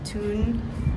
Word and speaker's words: Thun: I'm in this gazebo next to this church that's right there, and this castle is behind it, in the town of Lake Thun, I believe it's pronounced.